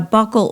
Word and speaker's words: buccal: And a buccal or buccal tie, is pronounced both ways depending on where you live, is when the frenum